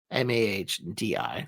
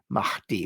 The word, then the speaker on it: Mahdi: So then we get to the 12th and final Imam, Muhammad al-Mahdi, Mahdi. It's kind of very hard to pronounce. Mahdi with the H.